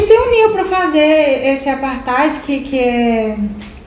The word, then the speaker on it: apartheid: Mas eu quase não lembrava, que é o apartheid. Pronunciei certo, é isso mesmo, né? Sim, apartheid.